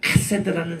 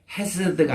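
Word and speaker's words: חֶסֶד: 이거를 히브리 말로 카세드라는 사랑이에요. 헤세드가 아니고 카세드입니다. 왜냐하면 케이스, 이거 히브리어로 좀 발음하기가 힘든 발음인데, 이게 가래가 끓는 소리가 나올 정도로 좀 이게 세차게 발음하는 거예요.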